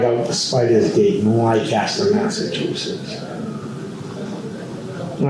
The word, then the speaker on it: Leicester: There's different ways of pronouncing it, but I've always pronounced it Leicester.